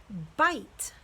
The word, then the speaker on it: bite: first viable becomes long the second vowel e is silent we're not going to hear it so long I says I I so what's our new word but I bite bite I will not